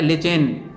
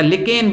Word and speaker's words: lichen: प्राप्त किया जाता है, लिचेन या लिकेन बोल सकते हैं। अब अंग्रेजी का उच्चारण तो आप जानते हैं, LICHEN, इसको लिकेन बोलें या लिचेन बोलें।